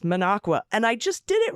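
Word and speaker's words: Minocqua: However, Monqua is pronounced Monqua. And I just did it right. I was calling it Maninoqua, but I just said Manqua.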